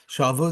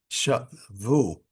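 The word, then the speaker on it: שבו: Shavu, they took captive. Lashon shviya, captivity. Lefikal tamu milera. Therefore, the accent is the last syllable. Shavu, not shavu, which means they returned.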